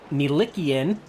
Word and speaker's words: Milikian: You see the 22 right now of Robert Milikian. We do got the pronunciation right on that one there.